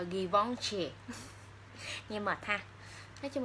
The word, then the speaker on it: Givenchy: Mình đọc tiếng Việt là Givenchy, nhưng mà đọc đúng tên của nó theo phiên âm mà người ta hay đọc là Givenchy.